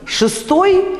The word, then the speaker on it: шестой: Ну, посмотрите, шестой и весна. Вот первый предударный слог, да? Шестой, такой звук, похожий на «ы», да?